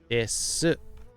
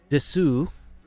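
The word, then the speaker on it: です: Neko wa uroi desu. Finer point here. Des. Not desu, as it looks like. Advanced pronunciation. Des. You drop the oo off of there.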